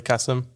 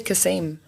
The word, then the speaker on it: Kasim: kills me but anyway what do americans say they say kasem like there's a double e and if it's always